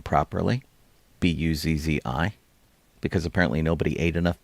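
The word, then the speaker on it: Buzzi: Uh nobody could pronounce her name properly, Buzz Zi, because apparently nobody ate enough pizza.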